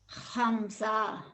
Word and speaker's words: Khamsa: And it rhymes with pamza and it starts with kha. Can you say it? Khamsa.